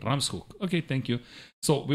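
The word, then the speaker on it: Ramshoek: and the Ram uh how do you pronounce ramshek okay I have to change that Ram's hook okay thank you so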